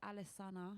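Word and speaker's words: Alessana: name your band um so my name is alisana and that's spelled a l e SS a n a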